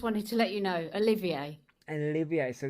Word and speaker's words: Olivier: Sorry, I just needed to say it's pronounced Olivier. Oh, Olivier.